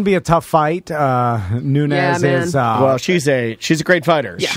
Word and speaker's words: Nunes: It's Nunes. Yeah, Nunes. I want to say Nunes. I think I think I've only said it right. And then I heard you say Nunez, and I changed it.